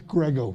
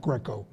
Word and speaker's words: Grego: staff by the way it's grego not Greco sorry I went to